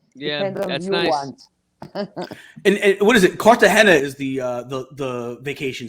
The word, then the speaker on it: Cartagena: and what is it cartagena is the uh the vacation spot right cartagena yes am i saying am i pronouncing it correctly yes perfecto cartagena did you know what